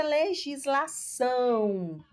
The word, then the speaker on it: legislação: Você observa aqui que o são é a sílaba tônica.